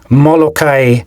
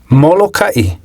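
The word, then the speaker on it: Molokaʻi: For example, in the two island names often mispronounced as Molokai and Lanai, there should actually be okina. They should be pronounced Molokai and Lanai.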